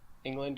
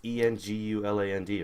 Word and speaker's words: Englund: It's Enguland, right? Yeah. Robert Englund. I thought it was England, to be honest, but I also don't know how to pronounce words.